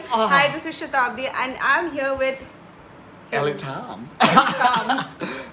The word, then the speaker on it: Satabdi: Satabdi, whose name he can't pronounce, and I get that because most of Indians can't really pronounce my twisted bong name. Hi, this is Satabdi, and I'm here with Elitom.